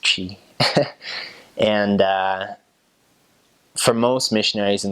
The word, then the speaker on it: Twi: It's called Twi, Twi, but it's pronounced Chi.